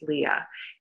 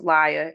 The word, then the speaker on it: Lya: first my name is leah it's not pronounced liar it's spelled l-y-a that unic name came